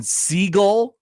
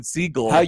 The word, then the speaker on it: Segel: Jason Segel. Come on, Connor. Oh. This man is not an oceanic bird. It's pronounced famously Oh seagull.